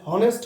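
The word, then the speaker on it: honest: ই এস টি অনেস্ট তাহলে এখানে এইচ এর উচ্চারণটা সাইলেন্ট এইচ এর উচ্চারণটা কি সাইলেন্ট এখানে অনেস্ট হবে না উচ্চারণ হলো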